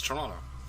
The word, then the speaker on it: Toronto: I've never said that it's Toronto yeah it's torado but I've never heard an American pronounce it that way how would you okay